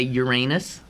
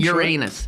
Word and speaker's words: Uranus: you grew up did you learn to say uranus yes it was a part of every every young american male's education at some point uranus yeah and and all of a sudden when